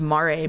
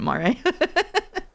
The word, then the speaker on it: Mare: Exclamation point Mare. That's how you pronounce it? Yes, it's like Mare Lamentorum. I always read it like a horse, mare.